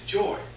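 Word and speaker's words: Joi: character we're talking about is joy joy uh which is spelled j-o-i came in during the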